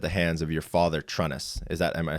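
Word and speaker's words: Trunnis: of abuse at the hands of your father, Trueness. Am I saying it correctly? Yeah, Trueness.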